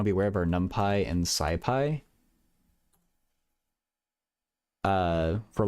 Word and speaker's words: NumPy: I've always said numpy because the P is capitalized so it looks like Python.